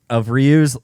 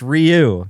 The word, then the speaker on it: Ryu: the deliberate mispronunciation of Ryu's name. It's Ryu, not Ryu.